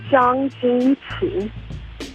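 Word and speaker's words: Zhang: Originally in Chinese is actually pronounced uh Jang, but it became Ching Ching Chang, which is weird.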